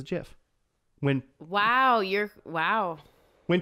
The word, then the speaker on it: GIF: to the show and which I call a jiff yeah sure I mean we all like peanut